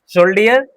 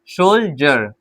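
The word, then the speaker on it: soldier: डी आई ई आर शोल्डर नहीं गलत हो जाएगा ठीक है शोल हमने कहा डी के साथ आई ई आर आई इ आर है तो हम डी को ज पढ़ेंगे सोल्जर क्या पढ़ेंगे सो [गला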